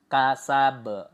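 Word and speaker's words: كسب: jadi tidak W kasab Nah kalau seperti itu kurang Tepat Jadi yang betul itu biasa saja dipantulkan Sa Ulangi lagi Mari bersama-sama ma agnahu maaluhu w kasab kasab nah seperti itu cara bacanya lalu di ayat ketiga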